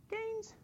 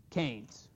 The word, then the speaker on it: Keynes: in the Keynesian stage canes and and I know it's spelled ke but canes with an A and as GDP Grows